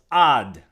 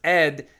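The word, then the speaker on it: עד: ayin daled also spells ad, okay, which is the same as when we say leolam va'ed, right? So ad, or when it's in a construct form, can be pronounced ed.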